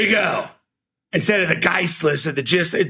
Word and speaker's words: Gist: got it right man first thing G hard G I think it's called I I think it was JJ Coan who I've always called JJ coxan yeah um he used your name and so I took notes I went oh it's hard G yeah yeah like good God you know an IST an IST like make a list or fist yeah so like the